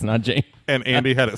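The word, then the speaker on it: Nanjing: and Andy said n Jing that's correct it's n Jing and Andy had it spelled correctly yes he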